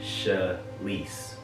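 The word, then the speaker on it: She'Lise: Half Sheila, half Elise. Shalise. And when he told me that, I just fell in love with that name. And it's spelled S-H-E apostrophe capital L-I-S-E. So half of Sheila, half of Elise.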